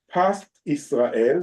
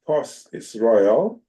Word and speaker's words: Pas Israel: In the word of kashrut symbols and abbreviations, the words Pas Israel, sometimes pronounced Pos Israel, are generally used when